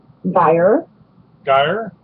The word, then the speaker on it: Geyve: uh now help me with the uh pronunciation of your last name Dyer guy yes all right the uh you're you're from